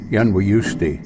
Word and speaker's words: Yunwi: The Little People, and I'll try the Cherokee pronunciation of Yunwi, were originally called Moon People because they only came out at night.